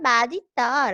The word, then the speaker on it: 맛있다: 자, 맛있다, 멋있다는 맛있다, 멋있다로 발음하는 것이 원칙이지만 사람들의 실제 발음을 고려하여 맛있다, 멋있다로 발음하는 것도 표준 발음으로 허용하고 있어.